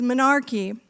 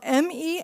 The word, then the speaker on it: menarche: And that word, including me, by the way, before I started this work, and that work is menarche. It's spelled M-E-N-A-R-C-H-E, menarche.